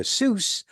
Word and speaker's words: Seuss: vibrating but it isn't today we pronounce Dr Seuss like his surname rhymes with goose but he pronounced it like it rhymed with voice like Dr so did